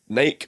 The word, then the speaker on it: Nike: rhymes with spiky.